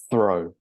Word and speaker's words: throw: The next word is a verb, and it makes an O sound with the OW, just like the word above, and it is pronounced throw.